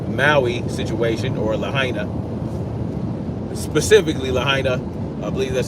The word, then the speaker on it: Lahaina: Specifically Lahaina. I believe that's how you pronounce it.